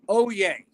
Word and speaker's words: Hollier: You would never get this, Bogey. It's pronounced Oye. Bogey. Well, okay. Because the H that might French, not super surprise me, because the double L's. Yeah, and the H is silent.